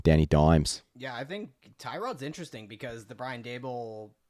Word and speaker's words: Tyrod: and then ty god tyrod taylor or torod i think is what the actual pronunciation is to the new york